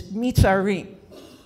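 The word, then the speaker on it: מצרים: Egypt in Hebrew is the word Mitzrayim, the land of Egypt. But there's another meaning for that. There's another way to pronounce that, and it's Mitzarim, which means narrowness inside yourself.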